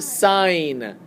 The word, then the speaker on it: sin: Um, sin is not sin. That's actually sign. Okay. That is pronounced as sign.